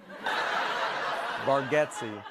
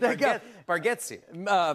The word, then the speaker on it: Bargatze: Bargatze.